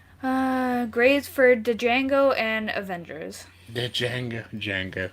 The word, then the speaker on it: Django: Uh grades for Django and Avengers. Django Django. It's just Jang. D silent, hillbilly. It's fine. It's fine. Uh no, that's actually a quote from the movie. The D is silent, cuz the guy in